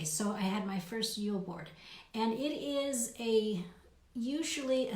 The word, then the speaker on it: julbord: So this tradition is called Julbord, Julbord, Julbord. And it's so funny because they pronounce it Jul, Yule, and in America we spell Yule, Y-U-L-E.